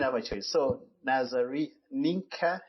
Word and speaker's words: Nienke: we start how do you say your name ninka n ninka ninka ninka n okay there's no